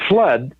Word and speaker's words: FLUDD: called the seeker and flood spelled fludd in the poem the seeker by rudyard kipling is spelled like that and they thought how